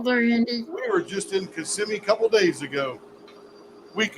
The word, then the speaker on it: Kissimmee: We were just in Kissimmee a couple days ago. Week ago. Took me a minute to remember how to pronounce that.